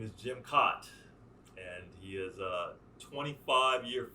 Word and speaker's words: Kaat: the nickname well you pronounce my name properly cot but a lot of